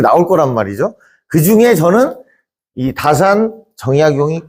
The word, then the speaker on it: 다산: 중요한 포지션을 차지하는 분이시죠 혹시 이걸 차산이라고 읽는 사람은 없겠죠 예 차 자도 되는 거예요 어 우리가 서날 아침에 지내는 차례 할 때요 차자를 그대로 쓰는 겁니다 예 우리 마시는 차 차 근데 이게 자로도 읽는 거죠 다산 정의 선생인데